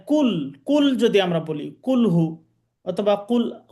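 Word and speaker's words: كل: আর যদি আমরা এই স্বাভাবিকভাবে কাফ দিয়ে বলি কাফ পেশ কু এটা যদি বলি তাহলে মানে কুল কুল যদি আমরা বলি কুলহু অথবা কুল আউজুবি রব্বিন্নাস ফালাক ইত্যাদি কইয়া কাফিরুন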